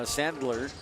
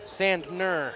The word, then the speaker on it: Sandner: hayden uh sandon uh sandler not there's no l in there is there sandner sand ner yeah we've got to